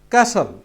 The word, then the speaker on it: castle: এরপর হচ্ছে আরেকটি শব্দ ক্যাসল। এখানেও কিন্তু টির উচ্চারণ হয় নাই।